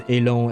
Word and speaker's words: élan: Because I've always pronounced it as élan, as in the French pronunciation.